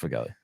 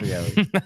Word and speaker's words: Foegele: It's pronounced Foegele. It's not pronounced Foegele. There's no way.